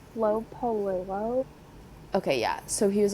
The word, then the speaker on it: Polillo: It's Flo Polillo.